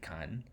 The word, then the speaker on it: 칸: It's not the double It's K. K-A-N.